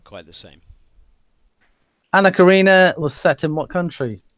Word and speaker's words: Karenina: How do you pronounce this, little Les? Anna Karenina. Karina? Alright. You're missing half the word, but okay.